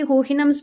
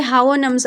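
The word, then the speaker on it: Houyhnhnms: अच्छा, ये जो वर्ड है ये होहिनम्स भी हो सकता है, लेकिन मैंने इसको गूगल पे जब सर्च किया इसकी प्रोनाउंसिएशन को तो ये हावोनम्स आ रहा था, हावोनम्स। तो आप देख लें जो आपको इजी लगता है।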